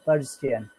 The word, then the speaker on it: Persian: Yes, and the pronunciation of Persian, the Hindu Persian. Persian. Okay, Persian, Persian, Yes, Persian. two syllables, Persian.